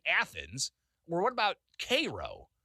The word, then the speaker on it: Cairo: Or what about Cairo? Spelled the same way as Cairo, but we say it here in Illinois, Cairo.